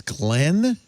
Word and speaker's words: Ghislaine: You pronounce Ghisline as Glenn. Glenn. I heard it from her father. It's like Siobhan. It's like one of those weird Irish, long.